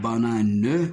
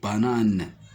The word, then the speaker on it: banane: en prononce e mais à la fin du mot il ne se prononce pas comme le mot cerise cerise et aussi dans le mot ici dans le mot banane on dit pas banane mais on dit banane